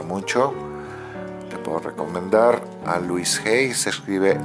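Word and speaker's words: Louise Hay: luisy la mencionaba mucho te puedo recomendar a Luis G se escribe L O u i s e h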